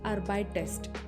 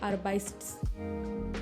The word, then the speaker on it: arbeitest: Notice du arbeitest and not du arbeitst. And er arbeitet and not er arbeit. The extra e makes the word easier to pronounce.